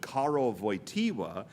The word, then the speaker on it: Karol Wojtyła: Now, at the same time, there is a third Polish name that we all know how to pronounce correctly because then Bishop Karol Wojtyła, who, in the 1960s, promoted the Chaplet of